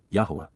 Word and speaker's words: Yahweh: for children Alim yah Yahweh the proper pronunciation of the name of eloa God as directed in his Torah teaching regarding his higher existence